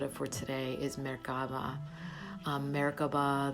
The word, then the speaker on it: Merkaba: Merkaba, there's different ways to pronounce it. This is the interlocking pyramids. And so there's many facets to this. Merkaba means light, mer. Ka means energy, ba, body.